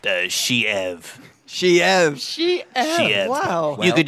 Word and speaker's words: Sheev: Yes, this is Cherry's in It's also, pardon to interrupt, but it's pronounced Sheev.